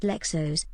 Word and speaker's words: Leixões: It's pronounced Lexos, actually.